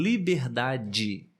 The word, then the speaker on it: liberdade: e por exemplo em liberdade ou saudade nós falamos assim de forma natural saudade liberdade mas na verdade se escreve